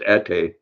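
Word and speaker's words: ate: next week Milo cool yes okay so it's pronounced at a and what does that mean what does a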